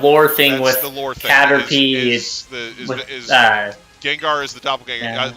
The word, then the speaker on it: Gengar: So, like it's one of those things where when they localized Gengar, uh rather than having it rather than keeping the Japanese, uh cuz cuz like I said, it it's it should be pronounced Genga.